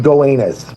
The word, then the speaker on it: Gowanus: It's pronounced Gowanus.